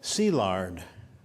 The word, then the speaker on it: Szilárd: Franz Liszt and I is e leo is pronounced Leo and szilárd see lard but to make things even harder like the Chinese the Hungarians put the family name first so in Budapest he is sea lard layout however since German was his family's first